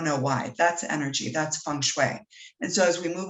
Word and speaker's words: feng shui: help remedy that so the direct translation is pronounced feng shui so if you're ever working with asian clients